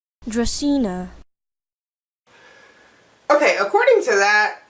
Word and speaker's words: Dracaena: one of this so let's see what the pronunciation is for real Dracaena Dracaena okay according to that it's not even that